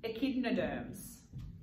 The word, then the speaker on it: echinoderms: Echinoderms.